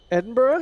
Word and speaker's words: Edinburgh: in the uk for jack to try and pronounce all right here we go edinburgh it's very fun game correct durham yeah correct